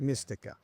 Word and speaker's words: Mistika: Yeah, am I pronouncing it correct? You're pronouncing it Okay, perfect. Mistika.